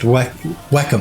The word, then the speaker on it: Wacom: bad everywhere i guess snowberry says it's pronounced whackum i think he means wacom and i will die on this hill yes now he says it's pronounced wacom but i say wacom even though in in